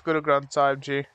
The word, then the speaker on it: Guru Granth Sahib Ji: and then you have Guru Granth Sahib Ji. Like, wait, you sure it's not just like a two-syllable, no. Like, easy little thing? Nah, it's Guru Granth Sahib Ji.